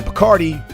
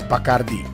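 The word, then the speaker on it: Bacardí: over the last eye putting the emphasis on that syllable in English we say Bacardi but in Spanish it's bakardi the rum making family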